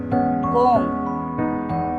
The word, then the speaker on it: comb: Comb, B is the silent letter. C-O-M-B, comb.